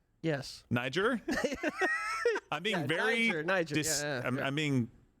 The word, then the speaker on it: Niger: one again today um I didn't know how to properly pronounce this country's name until and I just said Niger no Niger honestly I had to